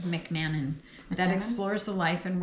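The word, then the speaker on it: McMahon: Uh, Mc just heard it pronounced McMannon that explores the life and worth of the 15th century polymath.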